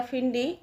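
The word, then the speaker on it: Finney: Jack फिनी या फिडी इस तरह से प्रोनाउंस करते हैं। But Jack फिनी इज़ the correct answer of this question.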